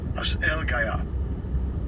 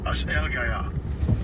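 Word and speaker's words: ἀσέλγεια: Let's get the pronunciation of it. Strong's G 766. As Elgaya. As Elgaya. That's Elgaya.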